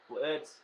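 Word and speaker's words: Blitzø: episode 2 is going to be recapping bubbles rose 2 queen chrysalis blitz oh blitz the o is silent luna golden heart izzy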